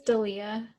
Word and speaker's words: D'Elia: You know the comedian Chris D'Elia? Mm-hmm. I might be saying his name wrong. It might be Delia or I think Delia. it's Dalia.